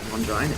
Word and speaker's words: Longinus: Longinus.